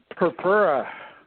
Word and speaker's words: Purpura: Emma who's Chuck I'm here with please pronounce your last name for me darlin purpura yeah see I would never get that this